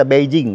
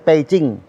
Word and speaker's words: Beijing: Jangan baca Beijing, bacanya Beijing ya. B dibaca P.